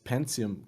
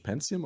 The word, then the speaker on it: Pentium: super bomb 60 megahertz pentium computer how do you say it in english pentium or pentium back then i didn't speak english pentagon we always call them pentium in german pentium 4